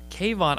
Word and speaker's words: K-Von: every now and then you will meet a cave on every two three weeks now yeah cave on I wrote it like that K - v/o n so people could pronounce it correctly okay and so I wrote